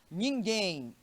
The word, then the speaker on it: ninguém: Ninguém, na hora da separação, primeira sílaba ni, segunda sílaba gen. A marca da acentuação gráfica, o acento agudo na última sílaba, evidencia que nós estamos diante de uma oxítona, tá bom?